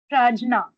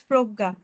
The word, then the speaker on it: Prajna: Uh, no, ma'am, it's Progga. Good evening, ma'am, and hello, everyone. Yeah, you are saying Proga, but it's written as Prajna. Yes. Actually, the ma'am pronunciation is like that, Progga.